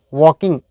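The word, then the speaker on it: walking: को हम कहते हैं वॉकिंग वॉकिंग नहीं वॉकिंग ल साइलेंट है लोग घूम रहे थे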